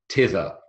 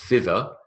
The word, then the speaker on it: thither: in English, hither and tither. It's not thither. The expression is hither and tither, even though we spell tither th. That's an example of a th which is pronounced t.